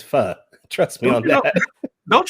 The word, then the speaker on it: pho: No, it's not pho. It's pho. The correct pronunciation is pho.